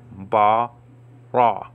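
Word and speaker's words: ברא: underneath that consonant so ba raw okay now what's the aleph doing well that's you don't pronounce that okay you don't pronounce uh the aleph there okay so ba ra okay in the beginning now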